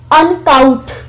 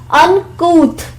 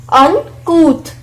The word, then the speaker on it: uncouth: Now if you will see this word for the first time, you may be pronouncing it like uncouth, C-O-U-T-H को आप couth पढ़े, but the correct pronunciation is uncouth, uncouth.